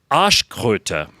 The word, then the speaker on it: Arschkröte: Basically, the translation is arse toad, and you pronounce it Arschkröte.